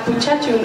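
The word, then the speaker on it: 부채춤: The Korean fan dance, pronounced Buchetum in Korean, is one of the most popular and well-known traditional dances in Asia.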